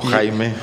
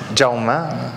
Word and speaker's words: Jaume: ¿Y Jaume o Jaime? Jaume. Jaume. Jaume. Jaume. La pronunciación.